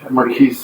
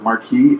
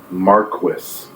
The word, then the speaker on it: Marquis: They pronounce the word Marquis as Marquis. Is there any basis for that in language? No. That's French, right? Yeah. Do you know what it means in French? It's just like, I don't know. It's a title, right? It's a title. I don't know if it has an actual title translation. You call me Marquis. It's Marquis. Oh, also... You don't pronounce the S.